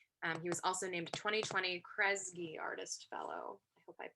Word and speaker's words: Kresge: and arts organizations he was also named 2020 kresge artist fellow i hope i pronounced that correctly um so without further ado